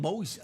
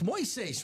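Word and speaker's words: Moisés: Everyone's calling him Moses. Like, it's not Moses. It's Moises, right? Moises. I know. I think Common actually asked Moses how to pronounce, because he's saying Common's just been saying Moses. Oh, he has. And it turns out that it is indeed Moses. It's not Moises.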